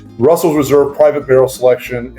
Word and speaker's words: Russell's Reserve: and this is the Russell Reserve uh this is their like I said I keep pronouncing it correctly but Russell's Reserve private Barrel selection it's